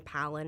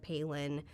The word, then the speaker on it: Palin: They were saying Palin instead of Palin.